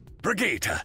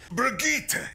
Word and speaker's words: Brigitte: Brigitte! Brigitte!